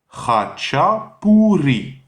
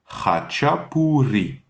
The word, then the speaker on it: khachapuri: Et le deuxième mot, qui commence par hacha, donc le ch, c'est la jota espagnole, pour ceux qui parlent déjà un peu espagnol. Donc ha, hacha, hachapuri. P-O-U, encore la R espagnole, le R roulé, puri. Hachapuri.